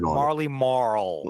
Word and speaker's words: Marley Marl: circuit I I like I like Wade's actually Marley Maul pronunciation it's the hard L yeah that Marley M K yo big props of that one that real the hard L Marley Marl just giving me those